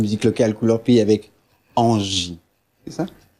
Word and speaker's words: Angie: locale Couleur Pays avec Angie. C'est ça? J'ai bien prononcé, et non pas NG.